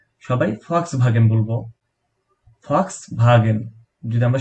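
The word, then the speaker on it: Volkswagen: আমরা সবাই নামকর একটা গাড়ির কোম্পানি ফক্সভাগেন, এটার নাম আমরা জানি, আমরা ছোটবেলা থেকে শুনেছি ভক্স ওয়াগেন, এটা ইংরেজি উচ্চারণ, কিন্তু জার্মান ভাষায় এটার,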